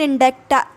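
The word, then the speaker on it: indict: फिर देखिए चौथा वर्ड है आपका इंडिक्ट, ठीक, या इंडिक्ट, इंडिक्ट या फिर इंडेक्टा, मतलब कि इसके प्रोनाउंसिएशन दो है। मैं इंडिक्ट बोलती हूँ जो कि बिल्कुल करेक्ट है।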